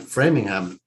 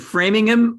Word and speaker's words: Framingham: but what is it framingham or framingham we say the ham it's just about every every town that has a ham in it we pronounce the ham whereas in england is